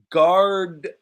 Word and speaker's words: gardener: good job yes not that we usually don't pronounce this so i just say gardner gardner gardener also can be called landscaper landscaper everyone is